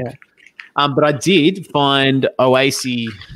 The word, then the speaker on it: Oase: But I did find Oasi. Is it Oasi? Is that how you say it? Or Oasi? Oase. Jeez. Oase.